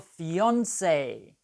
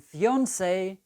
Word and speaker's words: fiancée: to marry, is your fiancé for a man and fiancée for a woman. Yes, these two words come from French. Fiancée and fiancé are pronounced the same.